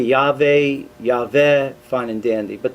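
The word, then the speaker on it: Yahweh: val yah and then the two possibilities uh for ending it would be ya ve or yava and uh there are variations of that but in no case uh could it be pronounced jehovah uh in jewish tradition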